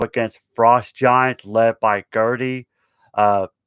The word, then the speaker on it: Gerti: frost giants led by gertie uh i think the tape pronounced her name g-e-r-t-i and then you got